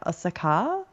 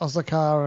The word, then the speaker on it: Osaka: Yeah, but a lot of the Japanese people that reside in Japan have been saying it with the emphasis on the last A, which is kind of interesting.